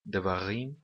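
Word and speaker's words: דְּבָרִים: Da mesma maneira que devarim nós pronunciamos com o acento na última sílaba. É sempre assim no hebraico bíblico.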